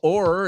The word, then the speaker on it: o'er: O'er the fields we go. O'er is over cuando lo quieren poner en una canción y solo necesitan una sílaba.